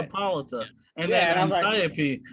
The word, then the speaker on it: Hippolyta: Well, that's because fucking Lovecraft Country had the exact same name, but they were pronouncing it Hippolyta or some shit like that. It's Hippolyta.